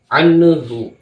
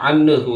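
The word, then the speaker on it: عنه: adalah izhar Anhu Anhu terkadang sering mendapatkan terdengar di masyarakat anuhu anuhu Anhu dibaca Anhu itu salah yang benar adalah Anhu jangan anu itu salah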